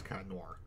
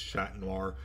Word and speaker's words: Chat Noir: and player two is cat Noir yes I know in French it's chat Noir I'm gonna pronounce it the dub way because that's what I'm